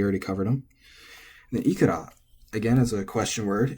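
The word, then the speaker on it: いくら: And then ikura, again, as a question word, it should be atamadaka. It is, but it's also acceptable to be pronounced flat, as you can see here. So, actually, you're relatively free here. You can say ikura or ikura, and it's fine.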